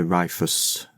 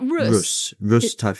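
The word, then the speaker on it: Rhus: It's the stagghorn, the rifus typhina. I think that's how I pronounce it. pronounced it terribly incorrect. Isn't it Russia? Yes, Russ. Yeah, that's it.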